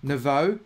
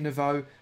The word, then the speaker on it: Naveau: very much to Susie Naveau. Have I said that right, Susie? Please do tell me if I've said that right. I'm pronouncing it as in O, as in water. Susie Naveau, thank you so much.